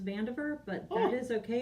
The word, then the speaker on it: Vandiver: dot fan diver VA m.div ER it's actually pronounced Vandiver but it is okay it's van dieter for